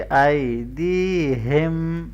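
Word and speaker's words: أَيْدِيهِمْ: बैन अयदीहिम, आई या लीन है, इसको नरमी से पढ़ेंगे और ये या मद्दा है, इसको लंबा करेंगे, ठीक है। और हा को गले के नीचे से हैवी करके पढ़ेंगे। अयदीहिम, अयदीहिम, वमा, अलिफ मद्दा को लंबा करें।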